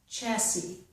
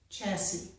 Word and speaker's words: chassis: So, in most words, we must pronounce the letter S, whether it is a S sound or a Z sound, but in some words, we do not pronounce that letter S, okay?